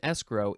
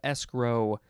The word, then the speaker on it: escrow: the second form of escrow you can emphasize either syllable this is a transitive